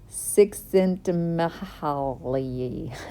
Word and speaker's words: Csikszentmihalyi: Well, I can, but it's not going to be pronounced correctly. But it's Csikszentmihalyi.